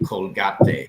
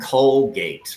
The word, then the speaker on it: Colgate: brand, it's not called Colgate in English. Colgate. It's actually called Colgate, right? Because remember, Correct. you don't pronounce the silent e in English, so no, it's Y- not Colgate.